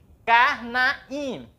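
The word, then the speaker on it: קרניים: QA, vou colocar aqui embaixo, e o A, o resh, o shiva, aqui ele é mudo, o nun, que é o nosso N, e a partícula do dual, A, Y e M. A, Y e M. Karnaim.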